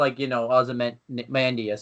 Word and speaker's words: Ozymandias: Up until, Ozymandias, but then that's it. Hey, you pronounced it right for once.